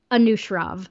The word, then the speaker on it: Anushrov: How do you pronounce his first name so I don't get it wrong? Anushrov.